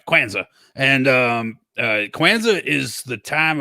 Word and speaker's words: Kwanzaa: Kwanzaa. It's two syllables. Right, Kwanzaa.